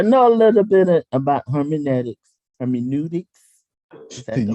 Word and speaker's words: hermeneutics: very interesting, because I know a little bit about hermeneutics. Is that the right word? Hermeneutics.